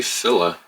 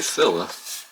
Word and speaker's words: Fila: pronouncing things very interesting they say philla i've always said feeling let me know in